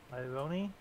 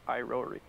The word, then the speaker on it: Irori: Ironi. Iro- 2 R's. Irori. Roy.